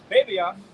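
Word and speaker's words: βέβαιος: That word sure in the Greek is pronounced babios, right?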